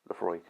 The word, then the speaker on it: Laphroaig: Laphroaig. Not Laphroaig or Laphroaig, just Laphroaig. PH makes an F sound.